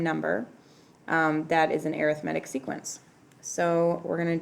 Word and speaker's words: arithmetic: talking about arithmetic sequences um they're actually not pronounced arithmetic there's lots of um there is a word called arithmetic but that's not what this one is it's arithmetic sequences um so go ahead and start your